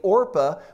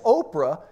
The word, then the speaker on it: Orpah: birth certificate it's actually Orpah but everybody kept mispronouncing it as Oprah and that Oprah was